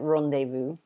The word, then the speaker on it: rendezvous: wrong though it's rendezvous at least in english we pronounce it rendezvous okay but the spelling